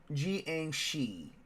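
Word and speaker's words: jiangshi: how the zombie uh the whole zombie stuff gang she is how you pronounce the giang she oh okay let me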